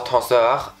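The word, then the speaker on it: Tenseur: I mean, the Sisley Double Tonsoir, I recently realized that I pronounced it wrong the whole time. It's Tonsoir.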